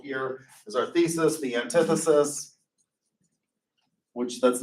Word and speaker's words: antithesis: motion Mr Aguirre and I'm on Auntie thesis um yeah the anti-thesis that's pronounced antithesis tell me that the